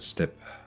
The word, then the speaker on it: steppe: I'm Googling it. Pronunciation. Step. Step.